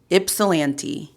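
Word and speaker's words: Ypsilanti: Ipsilante starts with a Y.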